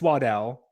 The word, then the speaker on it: Waddle: on there yeah like his family apparently says it's waddell everyone calls him waddle so i get very